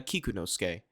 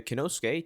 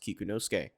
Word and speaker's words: Kikunosuke: halfway through editing that his name is actually pronounced Toya kikunosuke so every single time I say Toya kanosuke just know that it's actually pronounced kikunosuke now let's get back to the video who